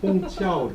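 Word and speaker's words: 虹桥: 큐 발음이 아니야. 그래서 홍치아오 차오.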